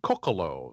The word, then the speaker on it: Coccolo: So it is Martin Coccolo. So the stress is on the first syllable.